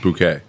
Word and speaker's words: bouquet: Because it's pronounced bouquet. It's a French word.